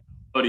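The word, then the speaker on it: Boddy: Bodie, Kyle yep.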